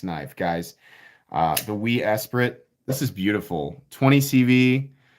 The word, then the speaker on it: Esprit: it's very good i did i say esperant esprit sorry sorry mispronunciation of the lotus esprit from being a child playing sega gt 2002 for xbox that was my favorite car in that game and i pronounced it espirit because i didn't know better sorry can you lock